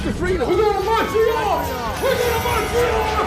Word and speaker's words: Montreal: trying to say it we pronounce it Montreal like it's with a youal Montreal and we always know